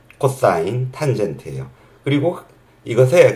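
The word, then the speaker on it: cos: 이거 그냥 사인이라고 읽고 코사인 이것도 세 자만 써요 그래서 그냥 코스라고 안 읽고 코사인 다 읽어 주시고 탄젠트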